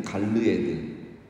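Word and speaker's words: גלעד: 정확히 발음하면 갈르엣은 그 갈르에드입니다. 갈르에드. 그리고 길르앗은 정확하게 발음하면 길르아드. 그러니까 비슷하죠. 갈르에드, 길르아드.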